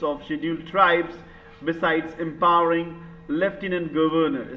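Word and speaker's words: lieutenant: schedule tribe beside एंपावरिंग लेफ्टनंट governor spelling बड़ी मस्त है नोट करने का ठीक है स्पेलिंग जिनको डाउट है लटने लूनेट लेफ्टिनेंट कहीं कहीं एफ नहीं है लेकिन बोलना पड़ता है और पहली बार आपने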